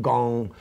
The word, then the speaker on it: Kung: And Kung Fu is another misunderstood term. Many people think it means something to do with martial arts, but actually Kung, or sometimes pronounced Gong, same as Gung-Ho, it means something to spend